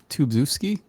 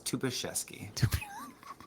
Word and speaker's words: Tubaszewski: Tubzewski? That's a common guess. It's Tubaszewski. It's Polish royalty, actually.